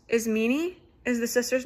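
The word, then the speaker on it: Ismene: Um she's very her I believe her name is pronounced is meanie is the sister's name.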